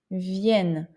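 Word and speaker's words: viennent: vous venez et classe il vienne le ent est muet mais en prononce vin ok pour le présent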